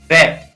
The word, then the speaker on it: wrap: उच्चारण नहीं होता है, जैसे रैप, WRAP, यहाँ पर क्या है, इसको W को नहीं पढ़ेंगे और इसको क्या पढ़ेंगे, रैप, र ए प, रैप।